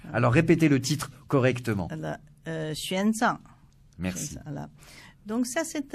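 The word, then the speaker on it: 玄奘: Oui, X prononce Xi en chinois. Alors répétez le titre correctement. Xuanzang.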